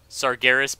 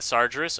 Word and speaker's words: Sargeras: Sargeras Poon, not Sargeras. Oh, my bad, man. I always mispronounce that name.